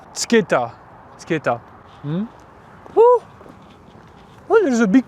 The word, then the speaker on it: Mtskheta: How do you pronounce the name of this town? Mtskheta.